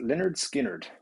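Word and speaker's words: Lynyrd Skynyrd: unbelievable um and phil you are saying pronounced leonard skinnered what a band what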